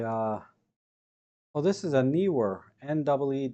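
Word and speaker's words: Neewer: oh this is a newer NW w r they pronounce it newer it's called a newer but it's spelled Neer uh this one doesn't even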